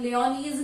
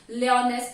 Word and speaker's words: Lyonesse: क्या प्रोनाउंस? लियोनीज नहीं, लियोनेस प्रोनाउंस करेंगे.